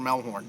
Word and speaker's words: Melhorn: I'm Melhorn. That's how you say it. It's a German name.